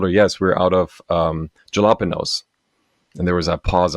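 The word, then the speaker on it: jalapeños: I'm like, wait, why would you pronounce a J sound like an H sound? It didn't occur to me that that wasn't an English word. It's a Spanish word, right? Right. But when I read jalapenos, it should be pronounced jalapenos because that's how it's spelled, right?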